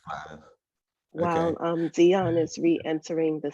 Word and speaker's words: Gladys: And I think I said that last name wrong. Glades Wilson? Nigel, could you pronounce that for me, please? You said it right. It's Gladys Wilson.